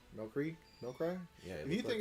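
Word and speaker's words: Milcery: That's spelled weird. yeah, it's Milcry. Milcry?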